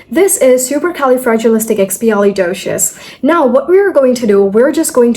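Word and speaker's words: supercalifragilisticexpialidocious: So first it's super then it's Cali then it's fragileistic fragilistic Xpi Xpi and doshious doshious. So it's super kelly fragilistic xpi doshious super cali fragilistic xpali doious.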